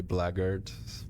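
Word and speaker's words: blackguard: rest I'm gone it's Black Guard Shirley well apparently it is actually blaggard but I refuse to pronounce it that way I don't care if it's the correct way but it just sounds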